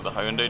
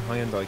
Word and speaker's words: Hyundai: Thank you for pronouncing Hyundai correctly. I mean, I hang around with Europeans enough now. Yeah. Americans be like, Hyundai.